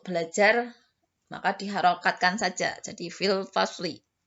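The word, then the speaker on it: في الفصل: Fil fasli atau fil fasl. Fasli biar kalian lebih jelas. Untuk belajar maka diharokatkan saja. Jadi fil fasli. Kalau pengucapannya bisa fil fasl, tapi kalau tulisannya harus fil fasli.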